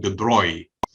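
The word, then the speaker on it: de Broglie: i mean how could you say this one the broi that's how the name is pronounced okay french people pronounced obviously it's written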